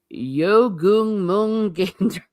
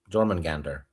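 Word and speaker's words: Jörmungandr: German Gander, the world serpent. Okay. Wait, you you pronounce J's like J. You don't go Y like German. Like German. No, I'm pronouncing it in your language.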